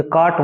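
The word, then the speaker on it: cart: इसे अंग्रेजी में एक नियम होता है, आर के बाद में कोई कौन सोनेट आता है तो आर का साउंड नहीं होता, कभी आर का उच्चारण नहीं होता है, इसे काट बोलते हैं।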